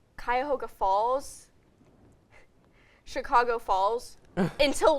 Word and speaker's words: Cuyahoga: don't think about it, I'll be like, oh yes, Chicago Falls instead of Cuyahoga.